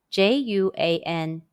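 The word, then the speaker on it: juān: dollar in chinese question when you see j-u-a-n first stone in ping in how would you pronounce it the answer is juan are there any topics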